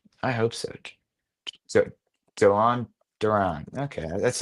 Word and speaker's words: Duran: And it's not it's not Durant. It's Duran.